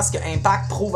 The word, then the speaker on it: Impact: Prochain battle, Impact contre July. Impact avec un T.